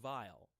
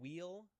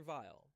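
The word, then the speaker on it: Weil: English to this but I think it's supposed to be German so the dove used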